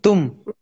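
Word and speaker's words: तुम: You, tum.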